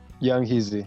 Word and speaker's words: Yung Heazy: Well, this is Kyle from WIDR Kalamazoo interviewing, aka Young Heazy. Is that how you pronounce it? Yung Heazy.